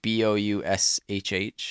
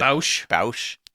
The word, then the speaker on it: Boushh: It's like Boushh or something.